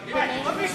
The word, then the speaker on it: beignet: We've been corrected that it's beignet, so it's like my name, and then yay.